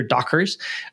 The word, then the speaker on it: Doggers: really important staff member I should get my pronunciation correct Peter Dockers uh like as if you're wearing Dockers Dockers pants yes yes he worked